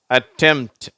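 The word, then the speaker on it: attempt: இதை நம்ம எப்படி உச்சரிக்கிறோம் டெம்ட் அந்த பி என்ற உச்சரிப்பு வரதில்லை அட்டெம்ட் சிம்டம் ஓகேவா டெம்ட் அட்டெம்ட்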